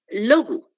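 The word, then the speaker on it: λόγου: Genitivo, miren, sigue la misma raíz log, pero ahora le pongo el o y el u y se pronuncia como u. ¿Recuerdan? Logu, porque ese es un diptongo.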